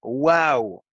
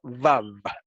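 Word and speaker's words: וו: de la era común, se argumenta que pronunciaban esa letra wow y no vav.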